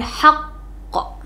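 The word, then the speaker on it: حَقًّا: akhir kalimat atau waqaf jadi bacanya nya haqqo gitu ditekan ee beberapa harakat dua harakat ya haqqo gitu lanjut nada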